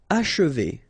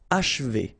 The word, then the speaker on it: achever: Okay, and then if you want to pronounce it the way French people will do, so don't insist too much on this and you will get H, achever, achever. It's a bit tricky, this combination of sh and v after, but then achever.